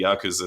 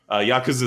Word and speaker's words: Yakuza: It's not a hard "kuz" sound.